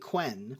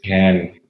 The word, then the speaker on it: Ken: like Ken and Barbie which is why I was pronouncing it quen but Skyler tells me that's wrong it's Ken all right what are